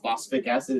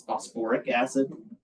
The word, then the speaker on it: phosphoric acid: phosphat the other one it's not phosph acid it's phosphoric acid um but for the